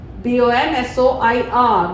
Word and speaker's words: bonsoir: Bonsoir. B-O-N-S-O-I-R. Bonsoir. Good evening. Ending is silent.